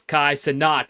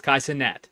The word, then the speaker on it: Kai Cenat: But but that I listened to that song again uh Friday and now I know it's not it's Kai Senat is not his name. It's Kaiat.